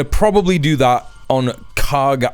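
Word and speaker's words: Kharg: probably do that on Kag Island or I believe it's pronounced K Island.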